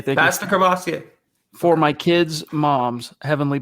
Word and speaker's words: Courvoisier: Been drinking how do you pronounce that, Zach? I don't know. Courvoisier. Thank you. That's the Courvoisier.